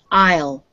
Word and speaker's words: aisle: Okay, this is pronounced aisle. Repeat. Aisle. Aisle.